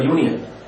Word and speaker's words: union: do we use for Union though it starting with u a i o u u is a w but the pronunciation goes like this Union starting with year year sound so year is a